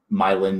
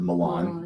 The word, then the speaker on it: Milan: And I know because in Michigan we say Milan, Michigan instead of Milan. Yes. So we're all guilty of Americanizing European names, and the island number 10.